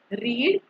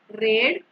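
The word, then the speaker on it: read: पढ़ना, रीड, रेड, रेड, रीडिंग। देखो रीड जो है ना, इसका स्पेलिंग सेम रहेगा, प्रोनाउंसिएशन डिफरेंट रहेगा, रीड रेड आएगा।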